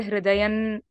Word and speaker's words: hridayam: So any anuswara which follows a classed consonant goes to the fifth letter.